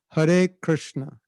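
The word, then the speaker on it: हरे कृष्ण: And it's not really natural to say it this way, but it's like this: Hare Krishna, Hare Krishna, Krishna Krishna, Hare Hare, Hare Rama, Hare Rama, Rama Rama, Hare Hare.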